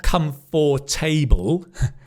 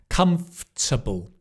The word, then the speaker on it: comfortable: So not comfort table. Comfortable. F. The F and the T are together.